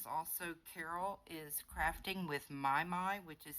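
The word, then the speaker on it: Mimi: And then there is also Carol is Crafting with My, which is spelled M-I-M-I, but it pronounced My.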